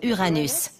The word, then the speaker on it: Uranus: Je prononce Uranus, ce qui est probablement très proche de la prononciation originale du nom du dieu dont elle tire son nom.